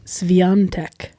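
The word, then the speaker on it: Świątek: said is it so it's spelled w s w i a t e t e k yeah it looks like tech yeah but when the announcer say it it sounds like sveyantec there's an there's a and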